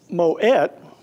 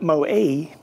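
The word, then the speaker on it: Moët: in France of course they're pronounce moet and not mowie even though they're French because the founder was from Belgium and his name was moet I frequently had people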